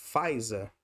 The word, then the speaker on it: Pfizer: Se você tirar o P, não faz falta, é só pronunciar a partir do F. Pfizer.